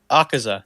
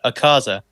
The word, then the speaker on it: Akaza: know who that is i know akaza not a causa it's awesome to say